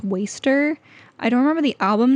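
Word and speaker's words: WSTR: is lost to me this says wsdr but it's pronounced waster I don't remember the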